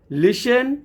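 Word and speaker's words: listen: बिल्कुल easy concept है जब भी टी के बाद न या टी के बाद सी एच आ जाए तो आप टी का उच्चारण नहीं करेंगे टी साइलेंट लेटर की फॉर्म में हो जाएगा जैसे यहां पे चार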